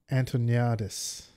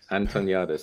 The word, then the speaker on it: Antoniades: Antoniades. There you go. You got it. Perfect. That's actually really helpful. Antoniades. Yeah. Antoniades. That's how it's pronounced.